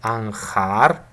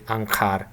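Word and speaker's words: анхаар: Okay, but yeah, many Mongolians say it, pronounce it with a uvular h, like ankhar. But some other people, for example, the Mongolian people that I lived together with in Mongolia, they say ankar.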